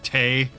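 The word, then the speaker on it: Tewi: Teiwi is still fucking ancient because her name is said as Tay. Because the W doesn't actually get pronounced.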